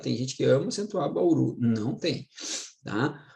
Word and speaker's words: Bauru: uma que não é ess acentuada aqui ó Bauru ó Bauru Bauru gente é uma maxito né